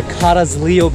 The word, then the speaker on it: Carrizalillo: All right, guys, so here's a wrap to an epic day here at the Carrizalillo beach.